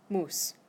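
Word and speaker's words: muss: the left side and that one is pronounced moose like the animal okay I reach I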